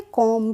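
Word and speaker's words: comb: B silent होता है तो सीओ एम बी को हम क्या पढ़ेंगे कॉम क्या पढ़ेंगे कॉम पढ़ेंगे इसमें बी साइलेंट होगा तो हम बी का प्रोनंसिएशन नहीं करेंगे अगर हमने इसको सीओ एम बी कॉम पढ़ दिया तो यह हमारा गलत प्रोनंसिएशन हो जाएगा इसको हम पढ़ते हैं कोम तभी तो एम के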